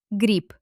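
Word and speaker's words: гриб: The voiced letter B is written at the end. What happens to it at the finale? It loses its voice from loneliness and turns into its voiceless twin. the letter P.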